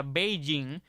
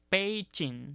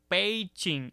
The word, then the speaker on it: Beijing: ahí en la diapositiva que aunque usualmente se pronuncia Beijing Recuerden que esa grafía está en pinging y de acuerdo con la pronunciación de ese sistema de transliteración debe decirse y Escúchalo muy bien pein la forma de pronunciar la forma adecuada de